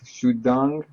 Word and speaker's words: Xudong: It's Ed Rosenberg, and today I'm with Xudong from Teapplix. Did I pronounce it right?